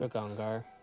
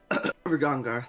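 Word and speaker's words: Regongar: I can't pronounce that for some reason. Ragongar. Rigongar, there we go.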